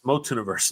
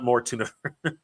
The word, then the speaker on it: Motuniverse: It's It's Motuniverse, not Mortun. More universe. Scoob. It's not spelled with an R.